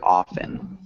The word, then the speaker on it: often: here is silent yes the t is silent so it sounds like often did the british accent